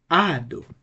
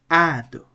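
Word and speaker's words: ᾄδω: It's a two-syllable word, so the right pronunciation will be ado, ado.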